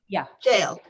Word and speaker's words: Shale: And then, Shale, is it pronounced Shale? Shale, yeah.